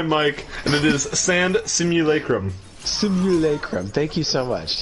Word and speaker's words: simulacrum: The pronunciation is simulacrum.